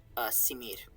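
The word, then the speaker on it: smr: would be the word simir. S-M-R is what's written, and I think the vowels are simir.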